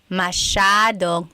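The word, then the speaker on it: masyadong: Mashadong means a lot. So the s ya is a sha sound.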